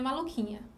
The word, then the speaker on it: maluquinha: Maluquinha. O QU aqui também vai formar um dígrafo. Porque a letra U, ela não é pronunciada.